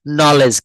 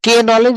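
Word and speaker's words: knee: হ্যাঁ বলছে হচ্ছে নলেজ। কে নলেজ বলা যাবে না।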